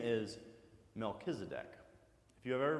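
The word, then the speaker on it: Melchizedek: a city called Salem and his name is melchisedek if you have ever pronounced it melchisedek that's okay but it's actually melchisedec and this king melchisedec is also apparently a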